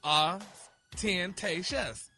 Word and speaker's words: ostentatious: And it's pronounced as ostentatious.